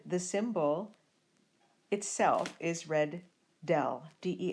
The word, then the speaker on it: del: of F and the symbol itself is red del de l the directional derivative is the dot